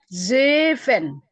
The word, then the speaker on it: zeven: Zeven. Oke. Eight. Acht. Ya. Ya. Negen. Negen. Sama dengan zeven, E-nya dibaca 2.